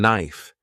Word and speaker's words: knife: For example, the word enough sounds like enough and knife is pronounced without the K sound.